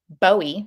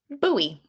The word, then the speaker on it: Bowie: was from was called bowie because it's spelled bowie b-o-w-i-e apparently that's pronounced buoy like the knife and not bowie like the rock star so who knew i